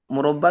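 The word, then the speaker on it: مربى: keju Bapak, Madu, manisan, dan murabba itu apa Ustaz? selai, selai. Naam. al-murabba. Ya, jadi di sini bacanya murabba ya teman-teman ya. Kalau murabi nanti pengasuh.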